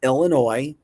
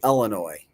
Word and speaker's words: Illinois: It's like ill. Ill like you're ill. Illinois. Illinois. It's not Illinois. It's not Illinois. It's not ill Illinois. It's Illinois.